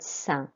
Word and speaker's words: sain: Je préfère les fruits car ils sont well done if you said sain. Remember, you don't pronounce the S.